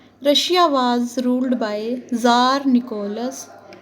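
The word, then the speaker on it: tsar: Russia was rule by jar Nicholas to उस समय Russia के किंग जार गलस टू थे इसमें टी एस ए आर लिखा है टी साइलेंट होता है इसलिए जार बोला जाता है तो रशियन रिवोल्यूशन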